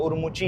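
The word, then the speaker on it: Ürümqi: और हाँ, उरुमुकी में बोलता था ना, उसको उरुमुकी नहीं बोलते भाई, उन्होंने बोला कि उरुमुकी बोल देते हैं लोग, बट उसको उरुमुची है उसकी प्रॉपर जो प्रोनाउंसिएशन है।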